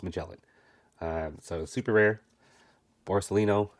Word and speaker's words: Magellan: because I didn't know I forgot how to pronounce it Magellan Magellan Magellan it's Magellan um so super rare borcelino I now have